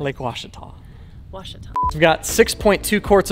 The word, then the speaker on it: Ouachita: cross country about 350 miles up to lake uchida in arkansas so say the name of the lake again lake washita o-u-a-c-h-i-t-a so i've been pronouncing it wrong all